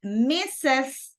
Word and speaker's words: Mrs.: So we have Mrs. That is the pronunciation.